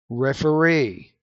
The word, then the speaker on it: referee: Did you catch that words in English that end in EE? The stress is on the final syllable. Absentee, committee, attendee, referee.